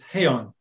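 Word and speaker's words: Heian: they have no so it might it might be like pinon maybe is an okinawan name in in japanese it's heyon okay that makes more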